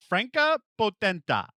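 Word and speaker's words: Franka Potente: 50 times last night and now I can't franka potenta that's better franka hey Google how do you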